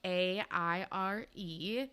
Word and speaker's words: Aire: So it's Aire, spelled A-I-R-E. She clarified on like a fan account that it's pronounced Aire because I was saying Aire.